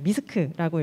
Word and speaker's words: MYSC: 같습니다 저희 운영하고 있는 미스크는 잠깐만 소개를 드릴게요 그 받아보신 쇼핑백에 저희 회사 소개자료가 들어있는데요 저희 회사는 이제 미스크라고 읽어주시면 되고 공식 명칭은 mi 소설